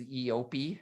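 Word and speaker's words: eopie: it called again his EOP EOP do you think his EOP is gonna have a name I believe it's pronounced yopi yeah it probably will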